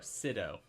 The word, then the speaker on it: Sydow: Oh, Sido.